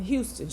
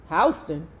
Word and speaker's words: Houston: I saw him on a huge billboard yesterday on Houston Street, Mimi said, pronouncing the street's name as one would the city. Where? Houston Street. Hon, Lena corrected. Hston.